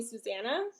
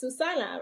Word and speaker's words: Susana: Um, and so I used to let people call me Susanna, um, which Hmm. is not the correct pronunciation. It's Susana, right? And so when I would Right.